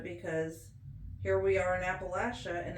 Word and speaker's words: Appalachia: I didn't really notice the switch I did until somebody said that if somebody says Appalachia instead of Appalachia, then you know they're an outsider and they're not from here.